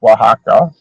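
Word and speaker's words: Oaxaca: to be pretty nice spelled with a o but it's pronounced Waka right and then east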